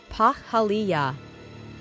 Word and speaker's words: Pahaliah: Cosmic ID card name, Pahaliah, pronounced Pahaliah.